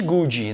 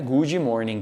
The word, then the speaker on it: good morning: morning toma cuidado né nós brasileiros mas tem uma tendência a pronunciar em inglês errado pessoalmente a gente não tem muita referência então existe gold não é good morning aqui não existe isso é good morning good morning good morning já boa